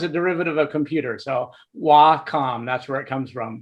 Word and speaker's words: Wacom: and Comm is a derivative of computer so w com that's where it comes from but we always love it when you pronounce it either waycom or whack them that's always cool too um we're offering a